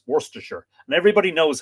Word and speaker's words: Worcestershire: probably does that and that's not fair it's Worcestershire and everybody knows how to say it don't